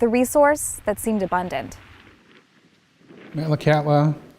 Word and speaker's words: Metlakatla: resource that seemed abundant malacata is the anglicized pronunciation of a simsian word which means salt water channel where the wind dies